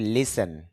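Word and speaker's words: listen: বা তালিকা ভুক্ত করা লিসন শোনা যদিও আমরা বলে থাকি লিসেন আর এখানে টি এর উচ্চারণ হবে না লিসেন বলে থাকি তবে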